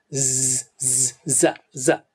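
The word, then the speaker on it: ز: и так же помните что некоторые произнося эту букву касаются кончиком языка верхних зубов я тоже так делал раньше но это неправильный махнач то есть артикуляция или произношение буквы за правильным будет касаться кончиком языка края нижних зубов и со звуком произнести за надеюсь вы помните линий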